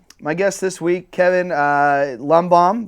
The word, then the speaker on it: Lundbohm: But my guest this week, Kevin Lundbohm. Did I say it right? Lundbohm, yeah.